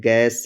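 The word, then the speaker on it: guess: कहीं भी लिखा हुआ हो जी, उसके बाद आया हो ऊ, यू उसके बाद ए हो या कोई भी वावल हो, तो जो यू होगा वो क्या होगा? साइलेंट होगा।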